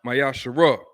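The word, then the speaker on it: ma'aser: 18:21 and Malachi 38-10 means 10th in the Hebrew which is pronounced mayash 10% of every penny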